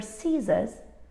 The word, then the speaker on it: scissors: letter is silent and all these words have a silent c it's very common to find a silency when it appears after an s because they are both sibilant sounds and it's like the